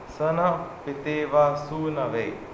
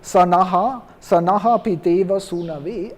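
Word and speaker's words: स नः पितेव सूनवे: I don't say sanaha piteva sunave. I'm no more in this sanaf piteva. I will come out of this Gayatri meter. That's why I don't pronounce the aha.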